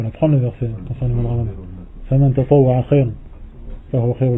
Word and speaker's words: رمضان: C'est pas grave s'ils disent ça pour discuter entre eux, mais lorsqu'ils lisent le Coran, ils ne devront pas dire Shahru Ramadan. D'accord? Ils devront prononcer le dad. Shahru Ramadan.